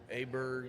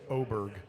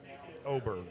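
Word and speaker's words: Åberg: Aberg and Rose both have actually gotten a birdie already. You have to ignore that A and look at the tiny little O on top of it What because that's pronounce it.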